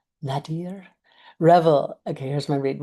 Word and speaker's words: nadir: It's actually the nater point. I know I'm pronouncing that word wrong.